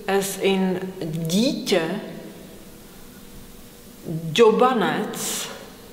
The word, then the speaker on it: dítě: the same sound, but if you pronounce dítě, dělat, džobanec, as in the sound D in schedule, which is a difficult word for me, it will be okay.